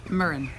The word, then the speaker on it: Muireann: And pronunciation? MUIREANN.